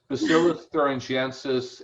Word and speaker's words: Bacillus thuringiensis: Yes, Bacillus thuringiensis, and it's Israeliensis is the variety.